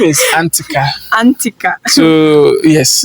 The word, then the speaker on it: Antika: Please, the name Antika, I can't pronounce it very well. Antika or So the name is Antika.